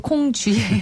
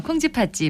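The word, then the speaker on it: 콩지팥지: 공집 콩지 파지 예 자꾸 콩주 라고 발음 하려고 하네요 콩지 파찌 많은 사람들을의 마음에 어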